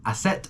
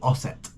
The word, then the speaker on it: Aset: Trinity, is Isis, or Aset, or Osset. It's not spelt with an O, it's A-U-S-E-T, and there's another one that's spelled A-S-E-T. Okay, Isis is, small parts